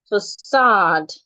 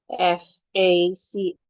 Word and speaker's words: facade: The second word is facade. Facade. Facade. Same pronunciation for the British pronunciation and the American pronunciation.